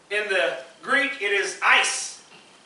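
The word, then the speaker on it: εἰς: the greek it is ice e-i-s that is pronounced ice and it means because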